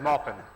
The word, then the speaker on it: Maupin: whose name I've been mispronouncing many years, Armistead Maupin.